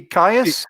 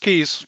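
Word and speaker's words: Kyes: to correct my pronunciation nancy kaius just keys keys okay yep uh as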